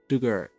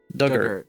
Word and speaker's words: Dugort: Dug like the past tense of dig. Ert rhymes with hurt. Dugert. Duggart.